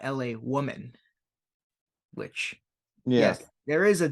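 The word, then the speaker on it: L.A. Woman: one little mistake on their video I said La women not LA Woman which yes there is a difference like I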